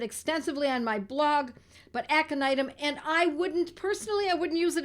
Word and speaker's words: Aconitum: These words, if they're new to you, they are spelled phonetically because they are Latin. Aconitum, A-C-O-N-I-T-U-M, aconitum, sometimes known as aconite, and I've written about it extensively.